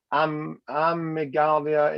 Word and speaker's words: amygdala: And amygdala is I don't know how you pronounce it.